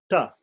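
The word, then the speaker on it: ṭa: This T with a dot under it is pronounced like the T in the word tub. Tub, tub. So ta.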